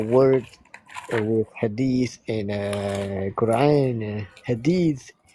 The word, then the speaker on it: hadith: Hadith, the way you pronounce hadith. Bukan hadis.